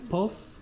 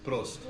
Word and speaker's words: Prost: Dankeschön in Post? Prost.